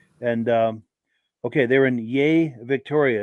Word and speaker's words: Yea: once a month and um okay they're in yay Victoria it's pronounced yay cool deal and then his friend Terry also